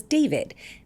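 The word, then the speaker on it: d4vd: The car is registered to a singer named David. It's spelled D4 VD and the body is that of a 15-year-old girl, Celeste Rivas.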